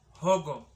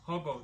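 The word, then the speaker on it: Hũngũ: And then the moment a U has a tilt on top, the U is pronounced as O. So, Hogo.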